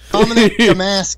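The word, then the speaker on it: Dominick Domasky: Is that how you pronounce the name? You're pretty close. It's DominickDomasky.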